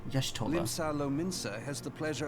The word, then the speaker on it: Y'shtola: If I may, the lovely maiden beside me is named Y'shtola. Y'shtola.